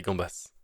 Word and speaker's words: gambas: As this name has come via Spanish, and in keeping with usage in that language, the final ‘s’ is pronounced in the plural. “La gamba”, or more commonly, “les gambas” (king prawn).